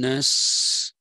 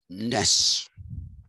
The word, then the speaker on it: Naess: it is, I'm told, the correct pronunciation is Arne and A-E indicates something in between the A sound, which is short, and the A sound, which is drawn out. It is somewhere in between that.